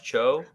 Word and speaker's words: Cho: my name is cho rhymes with ho not how so uh cho